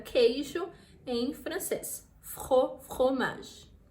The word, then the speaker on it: fromage: Crêpe au fromage, crêpe au fromage, fromage jambon, fromage é queijo em francês, fromage.